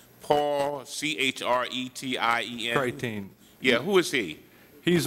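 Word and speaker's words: Chretien: Deming, this report says that it is from Paul Creation. You know him? Say that again. I'm probably pronouncing his name wrong. Paul, C-H-R-E-T-I-E-N. Creighton.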